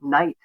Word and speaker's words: night: are uneducated I'm say when have you pronounced the K at the beginning of the word night for the you know we none of us has done that for hundreds of years you're we're part of